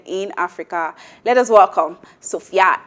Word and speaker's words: Sophia: The correct pronunciation is Sophia.